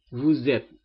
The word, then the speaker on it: vous êtes: Vous êtes. Kenapa jadi Z? Perhatikan S diapit dua huruf vokal, maka dia pengucapannya Z.